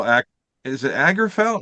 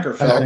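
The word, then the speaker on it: Åkerfeldt: Akerfeldt. Akerfeldt. Yeah. Yeah. Akerfeldt. Yeah. It's probably Okerfeldt cuz it it has a a dot over the A, doesn't it?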